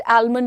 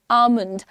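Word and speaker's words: almond: Don't call it आलमंड। डोलमंड etcetera call it आलमंड L silent है।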